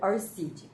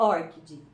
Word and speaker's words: ORCID: Então, a pronúncia correta, pelo que eu vi nos vídeos que eu aprendi com a Sueli, é ORCID. Vamos imaginar que tem um acento aí no O.